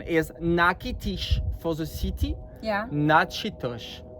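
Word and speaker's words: Natchitoches: Uh the pronunciation is nakitish for the city.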